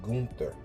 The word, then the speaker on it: Gunther: Getting into the WWE, I kept calling Gunther. Gunther. That's not the name, right? So we want to give proper credit to where credit is due. Gunther is how you say that German brother's name.